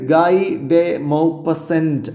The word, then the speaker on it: Guy de Maupassant: ആ ഒരു പർപ്പസ് നിങ്ങൾക്ക് ഗൈഡേ മൗപസെന്റ് എന്ന് പറഞ്ഞാൽ കുഴപ്പമൊന്നുമില്ല അതൊരു എന്താ പറയ ഇംഗ്ലീഷ് ഉച്ചാരണത്തിൽ അങ്ങനെ പറഞ്ഞ കുഴപ്പൊന്നുമില്ല പക്ഷ ഇയാളുടെ യഥാർത്ഥ ഫ്രഞ്ച് ഉച്ചാരണമാണ് ഞാൻ വായിച്ചത്എന്ന് മാത്രം സ നമുക്ക് നേരെ കഥയിലേക്ക്